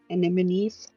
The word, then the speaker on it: anemones: I like colors, and she kind of just like turns, and you can see that the bottle bubble has like colorful anemones.